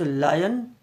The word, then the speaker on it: lion: बाल हैं, तो वो लायन होता है। इट्स लायन, इट्स नॉट ए लॉयन। तो इसके प्रोनाउंसिएशन, जो इसका उच्चारण है, वो लायन है।